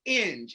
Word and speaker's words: Inge: So it's Inge, as in binge, as she said.